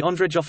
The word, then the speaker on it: Ondřejov: The Ondřejov Observatory, pronounced ONDR, Czech, Observator Ondřejov, is the principal